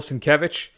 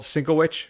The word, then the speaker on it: Sienkiewicz: track, interview with Bill Sienkiewicz, who I always called Sinkowicz for most of my life until I saw his Twitter handle, and his Twitter handle is actually how to say his name.